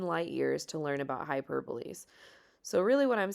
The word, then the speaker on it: hyperbole: does not look like it looks like hyperb but it's actually pronounced hyperbole so let's go ahead